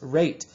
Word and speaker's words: rate: Yes, rate. But without that silent E at the end, this word would just be rat.